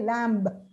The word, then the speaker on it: lamb: com lamb but actually the letter B is absolutely silent it's Tom b c and lamb Mary had a little lamb you say lamb so also father mother